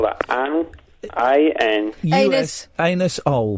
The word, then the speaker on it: Anusol: Anus-ol, but it's pronounced Anusol to save embarrassment.